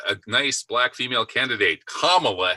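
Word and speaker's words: Kamala: nice black female candidate kamla Harris rhymes with obamaa don't ever pronounce it camela or you'll be a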